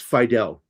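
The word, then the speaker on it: Fiedel: And the way you pronounce it is uh is fidel like Castro.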